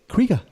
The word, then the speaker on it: Krige: alfre woodard we are now going into alice pronounce the name Matt Krieger kreega Alice Krieger who plays the Borg Queen so